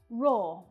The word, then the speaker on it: raw: Now, both of these words have the /ɔ:/ vowel sound, the same sound that you'll hear in words like door and saw. Raw.